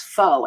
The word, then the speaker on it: faux: looking at that and I'm pronouncing it like how you pronounce foe f-a-u-x right faux is that box yeah